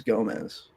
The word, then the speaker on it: Gomes: My last name is Gomez. Just throwing it out there. It was just pronounced. Yeah, just somebody years ago said it's I just hate. Gomes, yeah. I hate correcting people because it's spelled with an S.